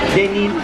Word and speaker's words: Denil: Tapos si Princess Sofia Denil. Paano siya i-pronounce doon? Denil.